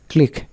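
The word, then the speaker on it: clique: Rule নম্বর 13, শব্দের শেষে কিউ ইউ ই থাকলে এর উচ্চারণ হবে ক। যেমন চেক মানে টাকার বরাত চিঠি, ব্যারক মানে বলিষ্ঠ, ক্লিক মানে ক্ষুদ্র দল।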